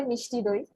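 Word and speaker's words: মিষ্টি দই: that is very famous, like Misti Dahi and Misti Dahi. What do you pronounce? How do you pronounce? Yeah, we say Mishti Doi.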